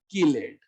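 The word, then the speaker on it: chelate: Chemistry, chemistry, चैल्कोजन, कैल्कोजन, चिलेट, किलेट। चिलेट ring जो पढ़ते हो, चिलेट नहीं होता, किलेट होता।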